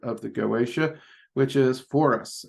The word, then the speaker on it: Foras: the goaa which is for us um is how I've always heard it pronounced um now in appearance